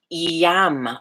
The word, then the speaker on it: Yam: The heart center, Yam, Y-A-M as in Mary, Yam. And we're going to go through pronouncing them before we sit.